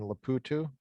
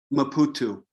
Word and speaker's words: Maputo: This is a class in the seminary in Maputo. Correct. How do you say the word of the name of the city? Maputo. Maputo.